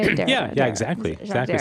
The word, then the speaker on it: Derrida: heard the name Jacques Derrida. Is that how you say it? Derrida, Yeah, exactly. Derrida. Some people say Derrida, but I think it's Derrida.